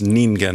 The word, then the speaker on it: ningen: Yuji with sorcerers but the pronunciation is ningen which is humans.